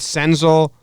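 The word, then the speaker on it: Senzel: I mean they got Sens 'el is how you say it Nick stencil they got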